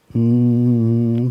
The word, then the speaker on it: Om: One starts with A, goes slowly into U, and then ends with Ma. The second starts with A and U together, becoming O. And lot of stress is laid on the last syllable, Ma.